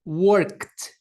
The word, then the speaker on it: worked: Então a gente vai pronunciar o verbo work ao colocá-lo no passado, o ED vai ter som de T, worked, worked.